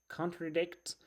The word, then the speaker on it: contradict: It's contradict. Contradict, the stresses on the last syllable, as you can see here, you know.